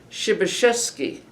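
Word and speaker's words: Przebeszvski: In Polish, it's pronounced shibasheski and it means pioneer.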